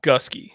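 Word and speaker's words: Guske: I will say it's pronounced Gusky as well.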